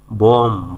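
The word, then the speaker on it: bomb: করা বোস্ট অহংকার করা বম বম মানে হচ্ছে বোমা ফেলা বম মানে বোমা ফেলা এখানে বি এর উচ্চারণ হবে না শুধু হবে বম মানে বোমা ফেলা বোর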